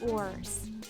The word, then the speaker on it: oars: Their boats had sails and oars. Oars? Okay, stop. Did you do that with me? Good. Oars sounds like the word or, but the way it is used is different.